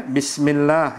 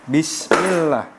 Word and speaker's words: bismillah: bukan Bismillahirrahmanirrahim gitu tapi harus jelas bnya jelas sinnya jelas karena Sin juga itu